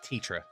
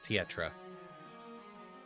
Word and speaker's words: Tetra: You're adding an extra syllable in there. Mm. It's just Tetra, not Tietra.